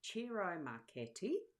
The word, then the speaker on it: Ciro Marchetti: expanded edition, and it's Ciro Marchetti is the person who's created these, and that's taken pronunciation wise from his own video that I watched on the weekend.